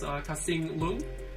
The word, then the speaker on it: Kasing Lung: He made a book called The Monsters, and then his name is Kasing Lung.